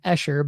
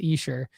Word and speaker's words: Esher: I was saying Escher, but it's pronounced Esher.